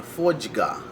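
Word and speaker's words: fodya: There's words like kujga and fojga. You notice how it's got the jga in it. Now, jga is spelled D-G-A. D-G-A, that gives you the jga sound.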